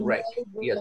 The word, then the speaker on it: wreck: Rick Arden pronunciation nervous wreck W is not pronounced nervous wreck the second one is